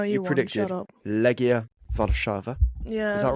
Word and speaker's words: Legia Warszawa: Legia Warszawa.